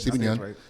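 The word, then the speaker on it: Steven Yeun: Am I mispronouncing it? Stephen Yeun.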